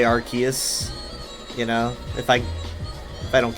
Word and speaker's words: Arceus: I guess I sometimes say Arceus.